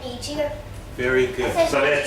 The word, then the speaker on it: Niger: you're going to say Niger, right? Yeah. This is their French way of saying it. This is actually a French word, and it's pronounced Niger.